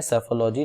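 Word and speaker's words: psephology: Newspaper में, that is सेफोलॉजी। ठीक है, इसको पी साइलेंट होता है इसमें, सेफोलॉजी, लॉजी मीन्स स्टडी होता है, इस बात को याद रखिएगा।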